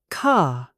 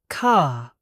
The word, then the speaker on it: car: This means we do not pronounce the R sound at the end of words or before a consonant.